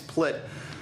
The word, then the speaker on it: Plitt: My name's Plitt. Rhymes with clit and shit, and it's a tough name to grow up with.